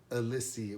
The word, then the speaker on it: Elysée: But it's the Elysée. I'm gonna call it Elysée because that's basically how it's spelled.